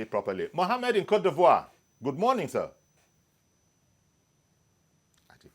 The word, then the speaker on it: Côte d'Ivoire: Mohammed in Côte d'Ivoire, good morning, sir.